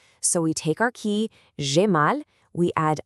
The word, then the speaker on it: j'ai mal: You say it like j'ai mal, and it literally means I have pain.